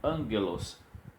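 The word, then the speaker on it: ἄγγελος: Ela recebe um N para ficar nasal, como angelos. E aí, os irmãos já conhecem bem essa palavra de anjo, né, mensageiro. Então, angelos, não se tem lá um ni para poder você fazer a pronúncia, o som nasal.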